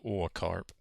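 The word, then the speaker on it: Åkarp: Yeah, the A with the little circle looking thing is pronounced or. So or carp.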